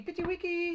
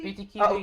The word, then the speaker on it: Pity Kiwi: But it's nice for us to see Pity Wiki. Pity Kiwi. I said it right. Pity Kiwi. It's so stuck in my head, Pity Wiki. It's Pity Kiwi, of course. I know it, Pity Kiwi.